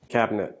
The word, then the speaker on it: cabinet: me in the drawer what about cabinet it's a three syllable word but many americans drop the middle syllable listen to david in the cabinet to the left of the sink cabinet cabinet cabinet cabinet two syllables you can do this too why not make it a little easier cabinet the back of